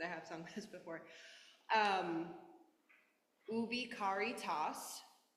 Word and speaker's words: Ubi caritas: So quick pronunciation, because I have sung this before. Ubi caritas. Ubi caritas.